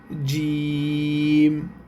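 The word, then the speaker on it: جيم: আর মাঝখানে যখন এক নুক্তা থাকে তখন অক্ষরটার নাম হবে জিম।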